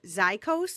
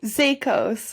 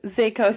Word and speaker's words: Zaicos: So, we have a lot to talk about today, but I want to welcome Zyikos. Am I pronouncing that correctly? Zakos. Zakos.